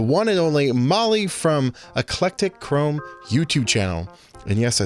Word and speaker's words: Eclectachrome: conversation with the one and only Molly from eclectic Chrome YouTube channel and yes I said it right